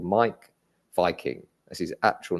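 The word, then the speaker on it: Meik Wiking: He's called Mike Viking. That's his actual name. Oh my gosh. Yeah, it's spelled with a W, and then it's Mike is MEIK.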